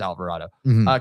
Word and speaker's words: Alvarado: It is Alvarado.